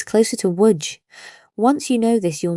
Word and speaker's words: Łódź: This letter is pronounced exactly like the English W, like water, like win. So Lodz, Poland's 3rd largest city, is not pronounced Lodz, it's closer to Łódź.